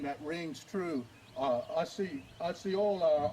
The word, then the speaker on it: Osceola: Osceola, or Osceola, as we say it back in Oklahoma. Osceola, some may say. They have different pronunciations for it, but we know it's for that.